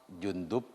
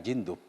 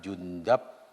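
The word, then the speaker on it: جندب: Jimnya ini Jundub dan Junadah itu dibaca dhammah. Jadi Jundub bukan Jindub. Junadah bukan Janadah. Di Jundub bin Junadah. Wa taslisid dali al-ula, dan dal yang pertama ada 3 wajah membacanya. Bisa Jundub, bisa Jundab, bisa Jundib, terserah. Anda mau ikut yang mana? Mau dibaca Jundib, monggo. Dibaca Jundab, silahkan. Baca Jundub, ya ora apa-apa.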